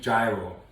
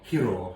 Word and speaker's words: gyro: So we're going to do a Greek gyro or hero, however you want to pronounce it.